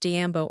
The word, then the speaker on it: Yambo: A Yambo, pronounced Diambo or Holly, Ghana the state.